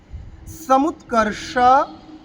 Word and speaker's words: সমুৎকর্ষ: প্রথমে সমুৎকর্ষ, সমুৎকর্ষ মধ্যে স, একদম জিভকে উল্টে পিছনের দিকে।